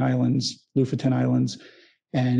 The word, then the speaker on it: Lofoten: to the lutheran they it's spelled lofoten they pronounced it luffford and i still don't know how to do it properly but um we went to the la futon islands loofaton islands and it's a really remarkable place it's